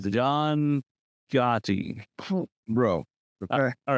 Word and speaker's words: Gotti: That's how John Ducati is spelled. Gotti. It's Gotti, bro. Why? I don't. Ducati.